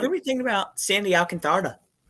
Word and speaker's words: Alcantara: Alcantara.